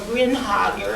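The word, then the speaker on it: Grinager: But this painting by Alexander Vinegar, or Grinhager, I've also been told he pronounced his name that way, which is from the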